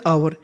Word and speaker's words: hour: एन आवर, आवर, HOUR को पढ़ते हैं आवर, एक घंटे के बाद।